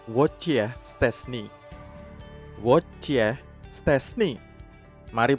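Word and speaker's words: Wojciech Szczęsny: mereka menyebut nama aslinya prononciation yang benar adalah wojciech szczesny word ya stres nih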